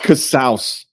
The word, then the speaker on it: Casaus: And it is pronounced Casaus. Like house.